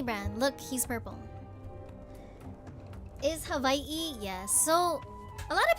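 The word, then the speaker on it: Hawaiʻi: A lot of local people say Hawaii. A lot of people say Hawaii, but in Hawaiian it's havi like with a V.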